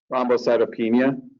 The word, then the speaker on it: thrombocytopenia: Is that pronouncing that correctly? Thrombocytopenia.